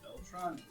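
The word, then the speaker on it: Beltran: It's like the how do you say back the phonetic spelling. Sounds like it's spelled.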